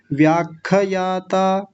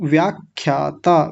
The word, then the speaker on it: व्याख्याता: सूक्ष्म ठीक है सूक्ष्म और आगे है विषया और अक्षय जी आपने एक गलती और की व्याख्यायाता खार हलंत खार हलंत ख आधा है तो व्याख्याता व्याख्याता ऐसा बोलेंगे बोलिए यहां से यहां